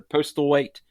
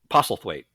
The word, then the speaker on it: Postlethwaite: I can never pronounce his name. He's a brilliant English actor. Was a brilliant English actor. Postlethwaite. Pos- Postlethwaite. Postlethwaite.